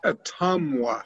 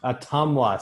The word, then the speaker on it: Ottumwa: Evan, it's Atumwa. Atumwa.